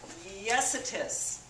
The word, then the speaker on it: Yesitis: Yesitis. Yes, it is.